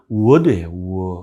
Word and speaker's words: would: 근데 I would like to 하면 word예요. word예요. 우리나라로 word를 빨리 잡은 거예요. 근데 그렇게 표현 안 하잖아요, 우리는. 우리는 모든 발음을 표기할 수 있는 훌륭한 문자 체계를 갖고 있지만, would를 would라고 쓰면 word예요. word. 이게, W를 여기다가, 입 안 전체 한가득 담아서 뱉는 거예요.